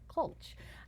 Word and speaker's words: Klch: never known How to pronounce her last name it's spelled klch H but it's ronda colulch Who knew I mean I've known her for